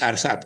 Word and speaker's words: Arsad: அர்சாத் சரியா உச்சரிக்கிறேன்னா அவங்களோட பேர்? ARSAD அர்சாத்.